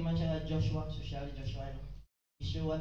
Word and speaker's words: Yeshua: Yeshua talaga ang pag-pronounce ng name ni Joshua when during the Hebrew time, Yeshua.